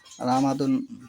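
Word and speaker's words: رمضان: তাহলে এখানে যে শব্দটা এসেছে রামাদুন, ইংরেজি ভাষায় যেটা রমজান মাসকে রামাদুন বলা হয়, রামাদান। এই রামাদান প্রথম বর্ণ হচ্ছে আরবিতে রা, মাঝের বর্ণ হচ্ছে মিম, লাস্টের বর্ণ হচ্ছে দাল। তাহলে কি হলো রামাদুন, রামাদান,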